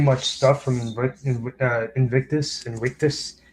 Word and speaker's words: Invictus: stuff from in Invictus Invictus I think the v in Latin is pronounced the W in winess Productions um the Marco